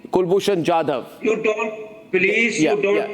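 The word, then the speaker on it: Kulbhushan Jadhav: Not Kulbushan Jade. Kulbushan Jadav.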